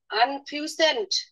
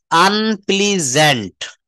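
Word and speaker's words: unpleasant: আনফিউসেন্ট। না আপা, এটা আমরা সবাই বলবো, আনপ্লিজেন্ট। আনপ্লিজেন্ট, হ্যাঁ, দেখেন এখানে শেষে রয়েছে SANT, এটা স্যান্ট বলবো না, আনপ্লিজেন্ট হবে না, এটা আনপ্লিজেন্ট।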